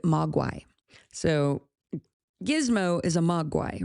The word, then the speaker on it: mogwai: find, is the word, you get the word magui, I think is how you say it, magui. Magui. And he pronounced it mogwai.